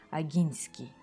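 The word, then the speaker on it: Ogiński: Кроме того, по-польски фамилия правильно читается как Агинский с мягким знаком.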